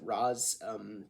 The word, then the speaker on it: Ra's al Ghul: I pronounce it Raz. The show pronounces it Raish, but whatever.